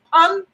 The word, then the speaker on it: Pun: It's Pun, P-U-N. Yes, because they couldn't pronounce it.